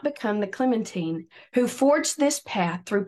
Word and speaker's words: Clementine: tell my version of Clementine's story. I know you have noticed how I pronounce Clementine. I learned in the book that Americans always pronounce it Clementine, but she pronounced it rhyming with Josephine.